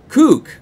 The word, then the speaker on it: kook: Cook, pronounced cook. It means crazy person. Really? Kook. Kook. A kook. Ah.